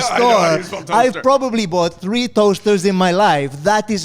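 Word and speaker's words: Towcester: It's spelled t o w e s t e r, right? Which is like I was like, "Oh, how do you pronounce this? Is this Is this Towester or Towes?" And they were like, "It's toaster."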